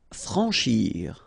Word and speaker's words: franchir: Franchir. Remember, C-N-H together. Sh. Franchir. A-N, en. Franchir. Abattre.